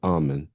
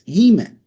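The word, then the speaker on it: Amun: at the beginning of the word that we call ammon is really pronounced e. So it's eman not ah.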